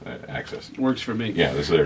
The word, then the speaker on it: AXS: If you're looking for it, it looks like it's spelled AXS. Right. And there was actually some confusion on how to pronounce it. I was watching the 12-12-12 concert the other night, and they said it, and I'm like, oh, that makes sense. You say the word ax and then add an S.